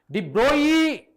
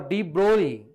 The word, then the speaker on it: de Broglie: Whereas Broglie, de Broglie or de Broglie, okay, it's not de Broglie. That's a wrong pronunciation.